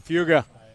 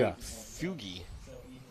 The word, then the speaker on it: Fuga: Ethan leading the way, Matthias, followed by Matthew, Daniel Crowder, then Dylan Fuga from Soda City. Fuga. I keep seeing Fugi. Fuga. Fuga. Trust me, I said it wrong for 2 years.